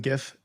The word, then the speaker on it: GIF: program first of all thank you for pronouncing GIF with a hard G I'm right there in